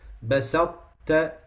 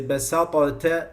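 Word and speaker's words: بسطت: So you say basatta. In this one you can't say basata, you can't say that. That's not how you pronounce it.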